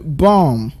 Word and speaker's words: bomb: when you have bomb the first B there is pronounced but the second one isn't so you go bomb next one is doubts